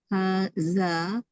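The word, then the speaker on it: هٰذا: Haza is pronounced haza, Ini but it, maksudnya. Jadi tulisan hadza memang seperti ini tulisan dia, tapi hanya dibaca panjang maksudnya, dibaca mad. Ya, tapi dalam writing oh, tidak perlu ada okay.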